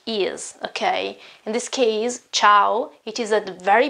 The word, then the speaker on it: ciao: in this case ciao this cha-cha is a quite difficult sound sometimes it's similar to the English CH okay not exactly the same though it's more like okay you have to put your tongue higher and say chit ciao ciao ciao and vowels